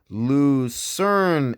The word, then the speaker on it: Lucerne: turn the Luke learn so we have found out that to pronounce it right it was the Lucerne in I think ah yes